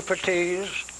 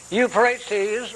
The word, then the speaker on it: Euphrates: near the river euphrates now i know that's pronounced you euphatise by some and there is a question about it and i want you to know that i know it euphrates river it's about it's